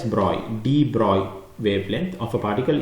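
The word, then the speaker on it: Broglie: The debro wavelength even though it's spelled B R O G L I E, you pronounce it as Broy, Droy wavelength of a particle is related to its momentum MV by the Droy equation.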